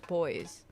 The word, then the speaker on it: buoys: Little buoys. Oh yeah. Or buoys. I've heard it pronounced both ways. Buoys. I'm pretty sure it's boys.